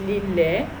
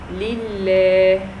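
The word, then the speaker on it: لله: kasra, so I say lillah, alhamdu lillah. What's this? It is shadda. It is called shadda. With the shadda, I pronounce the letter with too long, so we pronounce the letter 2 times.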